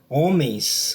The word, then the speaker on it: homens: Por via das dúvidas, a letra E, vejam só, homens, o H é mudo, e ganhava tem dígrafo NH, e a palavra hotel também não há dígrafo.